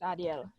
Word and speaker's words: Adiel: How do you pronounce it? It's correct. It's Adiel.